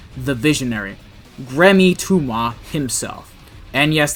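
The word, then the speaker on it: Thoumeaux: the Visionary, Gremmy Tuma himself. And yes, that's how you pronounce his surname. It's French.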